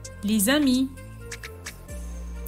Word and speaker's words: les amis: former une phrase fluide exemple les amis va se prononcer les amis ils on devient donc